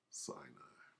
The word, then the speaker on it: Sinai: As in Sinai. How about that? As in say I. Give I-A. I don't know how to spell it. Sinai.